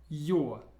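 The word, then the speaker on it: Ё: It's pronounced yo. And how I like to imagine it is these two little dots are like two eyes of a person, and it's somebody waving and saying, yo, how are you doing?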